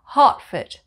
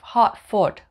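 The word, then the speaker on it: Hertford: are place names that end with foot f-o-r-d for example heartfit heartfit heartfit we don't say heart foot we say heartfit foot and number 22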